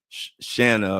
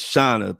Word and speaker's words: Shauna: I kept calling her Shanna or something. And she said, it's Shauna, pronounced like Donna.